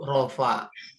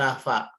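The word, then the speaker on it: رفع: Sebagian orang nyebutnya rafa. Rafa. Nggak pakai Ahmad. Rafa kiamat. Iya, enggak sebagian orang tuh kayak ada orang Kalimantan nyebutnya Rafa. Bukan. Oke. Kayak tapi ini bacanya rofa pakai ain ya Bu, rofa. Bukan pakai bukan juga pakai P tapi pakai F. Rofa.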